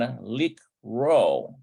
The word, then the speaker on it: לקרוא: So we have Lishmoa, we have Lirot, and Likro. Okay. And so note that the aleph in the verb likro is silent.